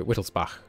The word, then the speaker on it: Wittelsbach: me by the way that Wittelsbach you pronounce like the composer bark so Whittle spa like that I'm guessing it's not